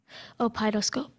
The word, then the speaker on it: opeidoscope: Opidoscope. Are there any alternate pronunciations?